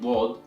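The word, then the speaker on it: ضاد: So in here, we need to know how to pronounce both Dal and Daad properly, because as you saw, one letter changes the entire meaning of the word. So one more time, it's Dal, Daad, Dal, Daad, Dal, Daad, Dal, Daad,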